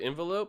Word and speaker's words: envelope: it might be correct envelope but envelope for sure it's an e n it's like entrance or entrenched you know envelope how